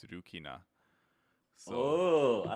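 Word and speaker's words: ルキナ: it's the same in Japanese except it's pronounced differently. It's Rukina.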